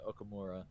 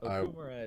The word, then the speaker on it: Okumura: I never heard it as Okumura when Okumura is how it is, how it's pronounced in the English dub.